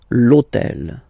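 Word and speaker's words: l'hôtel: starts with Ash but remember that in French we don't pronounce Ash okay so basically the first sound of the word is the vowel o okay so for the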